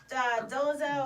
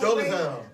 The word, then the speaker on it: Dolezal: How do you pronounce her name? Dolezal. Dolezal.